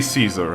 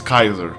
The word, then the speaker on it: Caesar: destroying it slowly right augustus kaiser don't say caesar i'm going to kill you if you say caesar it's kaiser it's kaiser latin pronunciation pronunciation is kaiser shut up it's kaiser